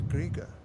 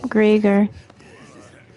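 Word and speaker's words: Greagor: This is the will of great Griger. I was pronouncing that wrong, too. Greger.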